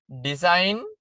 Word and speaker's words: design: design g අකුර silent.